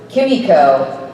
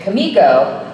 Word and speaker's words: Kimiko: their system ensues and I was pronouncing it Kimiko and Bob singer who is directing that episode he said no it's Kimiko but it's actually based